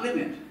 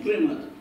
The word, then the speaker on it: Plymouth: El primer asentamiento permanente en los Estados Unidos fue en Plymouth, yo no sé si se dice Plymouth o Plymouth. ¿Cómo se dice, Carlos? Plymouth. Ah, Plymouth.